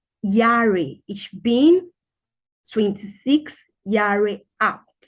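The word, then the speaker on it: Jahre: being 26 yarge out it's not Jerry the J it's yachts in German so it's pronounced Yari ich bin 26 years out if you're 26.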